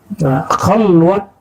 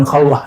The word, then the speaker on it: khalwat: Khalwat dar anjuman, bukan khalwah ya. Orang Persia tidak bisa baca di dalam pelafalannya, walaupun di hari-hari bisa.